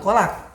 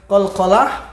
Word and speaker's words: qalqalah: ada kepala Apa itu kalau salah bukan kolak Qalqalah pantulan jadi ketika kita membahas